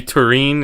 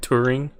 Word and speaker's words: Turin: It should be Turin, and he pronounced it Turing. Yeah, he stressed the wrong part of the word.